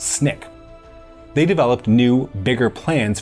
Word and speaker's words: SNCC: Student Nonviolent Coordinating Committee, often referred to as SNCC (pronounced as Snick).